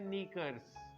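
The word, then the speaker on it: knickers: ये वर्ड निकर नहीं है, ये भी दो हिस्सों पर मुश्तमिल होता है। तो इसका एग्जैक्ट प्रोनाउंसिएशन है नीकर्स। एग्जैक्ट प्रोनाउंसिएशन है इसका नीकर्स।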